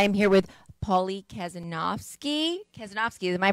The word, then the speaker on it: Kazanofski: in now i am here with paulie kazanowski kazanovsky am i pronouncing it right yeah i said it perfect